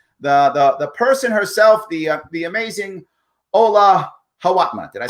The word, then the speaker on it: Ola Hawatmeh: The person herself, the amazing Ola Hawatmeh.